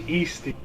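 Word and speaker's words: Eesti: Yeah, I have just been corrected by my brother about the pronunciation of SD. It's actually Easty.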